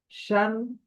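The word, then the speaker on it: شين: তো এটি শিন, যদি উচ্চারণটা দেখি বাংলায় তালব্য শ এর মতো উচ্চারণ হয়।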